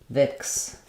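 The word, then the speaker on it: Vicks: just awah sound and vix has the I vowel so vix and the stress is on V so vix Vapor Rub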